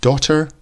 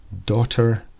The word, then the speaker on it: daughter: and that's partly because the GH in the middle of daughter is silent and a GH and some other words can make a curse sound but here no no sound at all daughter doctor here we have